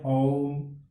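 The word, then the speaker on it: ओ३म्: बड़ा, चंद्र बिंदु है, लेकिन इसका उच्चारण करते हैं ओम, तो इसमें क्या है, जैसा कि इसके अंदर लिखा हुआ भी है 3, इसमें 3 मात्राओं की सी ध्वनि हो गई, यह प्लुत ध्वनि कहलाती है।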